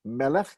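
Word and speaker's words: מלך: Melech, king, and malka, queen. We've seen those before. Melech gets stressed on the first syllable. Malka gets stressed on the second, the last syllable.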